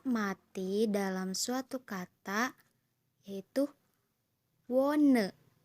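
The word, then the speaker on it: wohne: Contoh H mati dalam suatu kata yaitu wone. Wone. Jadi dalam kata wone ini H-nya jangan dibaca jadi mati aja udah.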